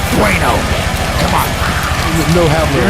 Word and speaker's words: Bueno: Did you just say Buono? That's how it's spelled here in front of me on the teleprompter. It's Bueno.